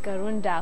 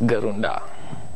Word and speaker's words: GarundA: Yes, GarundA. GarundA. Yeah, that's how you pronounce it.